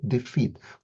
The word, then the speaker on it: defeat: So, for example, the word defeat, we don't stress the d, we stress the feet, defeat. We stress the second part, and that's the natural rhythm of the English language.